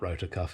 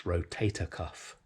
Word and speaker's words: rotator cuff: It's not rotor cuff, is it, guys? It's rotator cuff.